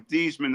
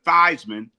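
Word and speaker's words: Theismann: So he changed his name from Theman to Thyman to rhyme with Heisman.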